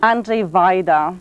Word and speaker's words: Andrzej Wajda: Andrzej Wajda.